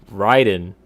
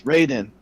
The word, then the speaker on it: Raiden: the roster Black Manta ridin and Hellboy interesting you didn't say it right it's Raiden oh right I didn't